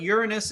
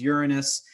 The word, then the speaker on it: Uranus: also another one and technically uranus is still correct so as sunny as funny as it is um it has many different pronunciations so um you know but uh to kind of eliminate a lot of the chuckles uh the more appropriate or more proper one that we use now is uranus but um anyways i